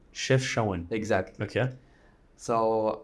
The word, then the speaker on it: Chefchaouen: How do you say Chefchaouen. Chefchaouen.